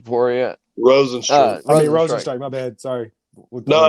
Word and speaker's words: Rozenstruik: Correct pronunciation, Rozenstruik.